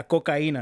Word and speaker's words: coca: cocena cocena yeah so heard that before yeah coca is how you say it in Spanish so